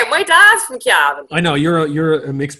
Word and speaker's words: Cavan: It's Calvin.